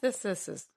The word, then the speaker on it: chemesthesis: Chemesthesis.